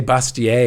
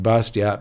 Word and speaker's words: Bastiat: else the great frederick bastiat read his stuff now some of you would say bastier is the proper prenun pronunciation except he comes from a section in france where it would be pronounced bastiat but nobody really knows